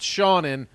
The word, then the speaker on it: Seanan: how you pronounce it you should be like it's pronounced shannon yeah my name is